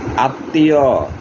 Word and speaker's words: আত্মীয়: মধ্যে যে ধ্বনির সাথে বা বর্ণের সাথে মফলা থাকবে ওই ধ্বনিটি দুইবার উচ্চারণ হবে। যেমন বিস্ময়, বড় শিকার তালিব্যাস মফলা অন্তুস্তীয় বিস্ময়। আত্মীয়, সরেয়া ত মফলা দিকার অন্তুস্তীয় আত্মীয়।